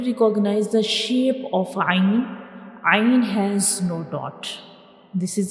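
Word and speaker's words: عين: So ain is pronounced from the middle part of the throat.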